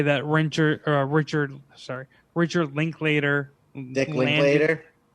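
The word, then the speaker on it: Linklater: wrencher richard sorry richard link later later is that how do you say it it's linked later you were right i said dick link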